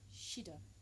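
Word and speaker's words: SID: The band name is actually spelt like this, but it's actually pronounced Shido, and they are incredible.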